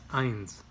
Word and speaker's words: eins: Just like the number one is eins, E-I.